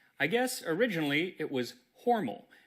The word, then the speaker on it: Hormel: The history of spam begins with the history of Hormel. Or should I say Hormal because while the company pronounces it Hormel now, at least on their commercials, I guess originally it was Hormal.